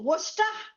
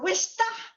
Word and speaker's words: Worcester: It's like the sauce. It's like Worcestershire sauce. We pronounce it Worcester or Worcester.